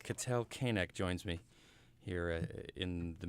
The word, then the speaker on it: Keineg: okay nak kan AC now your name is spelled Kei NE g pronounced k nak nak Cattell k neck joins me here in